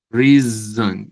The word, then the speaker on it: reason: Miren lo que le pasa a la S que está ahí. Reason. Reason. La S se vuelve Z al pronunciar, no al escribir, al pronunciar.